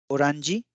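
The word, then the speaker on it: オレンジ: उदाहरण देखिए, ऑरेंज, ओरांजी, ओरांजी।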